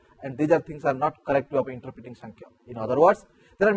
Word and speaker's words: Samkhya: When I say San, when there is a N pronunciation, no pronunciation, there is also a mark above M.